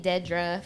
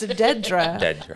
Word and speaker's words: Dedra: I knew her her call me Dedra for spell d e d r a and I just was like d never correct in the ruar it's pronounced Deedra but she never and